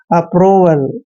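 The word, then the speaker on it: approval: Word, next word है A double P आर ओ वी ए आर एल। यहाँ पर ए का उच्चारण हमने ए करना है, डबल पी को पे पढ़ते हैं और आर को रे पढ़ेंगे, ओ को ओ की मात्रा पढ़ते हैं, वी ए का उच्चारण वे करेंगे और एल को ले पढ़ेंगे।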